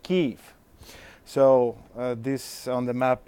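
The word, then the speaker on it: Kyiv: correct the map because the capital of Ukraine in Ukrainian language is not being spelled like Kiev but like kief so this on the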